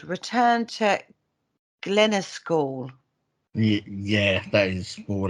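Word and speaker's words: Glennascaul: Now, this is also called Return to Glenaskall. Yeah, that is more or less right there. Glenaskall, that's how I pronounce it.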